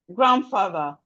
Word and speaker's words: grandfather: We have grandfather. Landscape. Handwriting. Landlord. So the D here is silent.